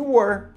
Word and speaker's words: were: que é was e were. Só essas duas. Pronuncia comigo. Was, sonzinho de Z, né, mais ou menos, e were. Cuidado para não confundir com where, ok? Where é onde, nada a ver.